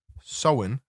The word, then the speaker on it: Samhain: the ancient Celtic festival of Samhain pronounced soin the Celts who live